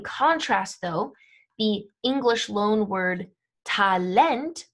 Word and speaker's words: Talent: though the english loanword talent right is being emphasized on that second syllable not how we say it in english in english we say talland in german you say talent and because of this